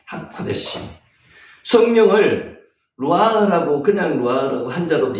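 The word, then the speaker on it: הקודש: 요게 위에 점이 찍히면은 오 발음 난다 그랬죠? 키읔이 오 발음, 코, 여기 디귿 발음 나잖아요. 이 발음, 점이 3개 이상 찍히면은 뭐 발음 난다고요? 에 발음 난다 그랬죠? 코데시, 하코데시.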